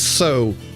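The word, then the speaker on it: sow: Because this word is pronounced two different ways, right? It's sa if it's the animal, but it's so if it's the verb.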